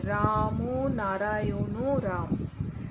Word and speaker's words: রাম নারায়ণ রাম: বলতে শুরু করে দাও উচ্চারণটা কিন্তু সঠিক এইভাবেই বলতে হবে রাম নারায়ণ রাম রাম নারায়ণ রাম তো তুমি